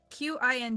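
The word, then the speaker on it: Qing: Q I N G is read Qin. Thank you. Qin Kuang? Qin Kuang?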